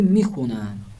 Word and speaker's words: میخوانم: من کتاب فارسی میخونم. میخونم یا میخوانم؟ درست ہے، میخونم. اس کے بعد ہے آموزش واژه. من میخونم، الف کو یہاں پر تلفظ نہیں کیا جائے گا.